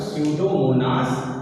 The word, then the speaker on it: Pseudomonas: तो यहाँ पे पी साइलेंट होगा, तो स्यूडोमोनास साल्मोनेरम ये लिखा हुआ है, आप इसे कंठस्थ करिएगा। आलू का सैथिल रोग है वो किस बैक्टीरिया के द्वारा होता है, तो स्पेलिंग जैसे इसकी लिखी है PSEUDOMONAS, तो इसको पी ना पढ़ के, क्योंकि पी यहाँ पे साइलेंट है, तो इसे हम पढ़ेंगे स्यूडोमोनास, ठीक है।